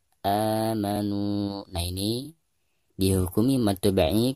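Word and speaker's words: آمَنُوا: Baik, ketika kita membaca a di sini dipanjangkan 2 harokat karena dihukumi mad badal ya. Amanu.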